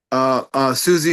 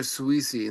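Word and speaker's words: Siouxsie: I think, wait, Is it Susie or Sweezy in the Susie, band? Susie, Sweet, Yeah, Susie and the Banshees. Yeah. Susie. Oh, that's how you pronounce her name, Susie, because it's spelled Yeah.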